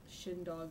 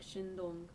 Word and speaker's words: Shindong: say his name wrong I always say shind do or something like that I think shindong anyways like he came